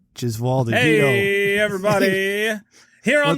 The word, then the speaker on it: Gesualdi: God damn it, Gesualdi. Okay. Yeah, it's hard to forget once you hear that first syllable. Gesualdi.